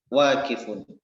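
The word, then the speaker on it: واقف: Wakifun. Wakifun. Ya, nggak apa-apa. Wanya panjang ya.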